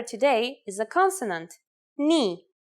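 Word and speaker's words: Νι: today is a consonant knee yes pronounced just like the knee on your leg its sound in Greek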